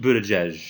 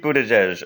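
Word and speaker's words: Buttigieg: you know how to say his name Pete Buddha judge Pete Buddha judge okay so he says to his boyfriend Chaston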